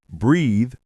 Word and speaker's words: breath: Breathe. Verb has the long e sound. Breathe. Example, breathe in the fresh air. Breath noun has the short vowel breath.